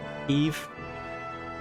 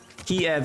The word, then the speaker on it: Kiev: city technically Kiev in Ukrainian?